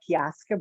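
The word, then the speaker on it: Piasa: the um fiasco bird now i've heard it pronounced a couple of different ways but kyaska bird is um the way that i'm going to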